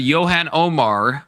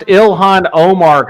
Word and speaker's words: Ilhan: Should Yan Omar be deported? Do you do you know who Yan Omar is? I I I can't. It's pronounced Ilhan Omar.